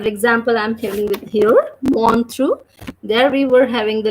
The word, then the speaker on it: montre: Last E is silent. So we are just reading this word like montre.